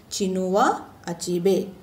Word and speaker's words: Chinua Achebe: The name of the lesson is The Shell Falls Apart, written by Chinua Achebe. Yes, it is pronounced as Chinua Achebe.